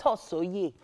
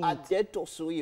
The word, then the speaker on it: Adetosoye: It's Adetosoye. Hey! That's how they say it. Adetosoye.